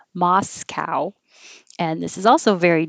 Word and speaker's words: Moscow: dove good dis and the american pronunciation of this is quite different than the russian pronunciation we say moscow with a real ow moscow and this is also